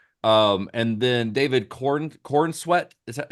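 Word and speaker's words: Corenswet: Um, and then David Corin Corweat. Is that how do you say it? Is that how you say? Yeah. Yeah. Corin Sweat.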